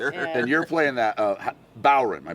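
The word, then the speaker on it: bodhrán: Everybody Everybody wants to say the D and you just don't.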